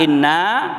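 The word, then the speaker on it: إِنَّا: Inna, panjangkan sedikit, jangan tidak kita panjangkan karena maknanya berpengaruh.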